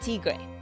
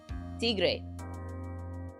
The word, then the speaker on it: Tigre: in Spanish too well I'm saying how you pronounce it like Tigre Tigre I'm not talking I'm like I'm not talking about like the ordin but yeah Spanish it's Spanish yeah yeah thank you